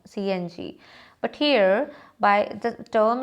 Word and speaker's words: CNG: Like we cannot say Becky, no, BCCI, CNG, we don't say Singe, no, CNG.